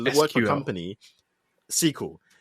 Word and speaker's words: SQL: SQL. Did you say XQL? No, SQL. I just said it wrong.